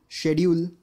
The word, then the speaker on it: schedule: And this word again, schedule, which we most of us mispronounce, but its correct pronunciation is scheduled.